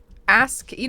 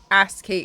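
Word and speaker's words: ASCII: s c i i it turns out that's pronounced asky and I was like ask key cuz I genuinely didn't believe chat I was like like ask key like a key um and chat were like no yeah that's literally how it's pronounced I was like okay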